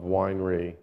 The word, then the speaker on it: Weinre: a nitobe employee pronounced Winer correctly it many I don't actually care in fact my my first real slide is uh is the pronunciation issue like like Winery not like weener but I don't really